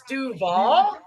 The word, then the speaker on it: Duval: You didn't say it right. It's Duval.